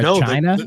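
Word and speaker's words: χ: they did Kingdom Hearts Chi is that how that's pronounced the web browser one yep I know was browser one has like the X but it's not pronounced X it's pronounced chi I don't fck most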